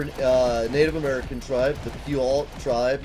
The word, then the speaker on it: Puyallup: Like, out here, we have the Puyallup Fair going on right now.